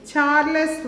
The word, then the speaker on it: Charles: revolution so option b charles one actually we should not pronounce that as the chalice one but we should pronounce it as the charles one charles charles one is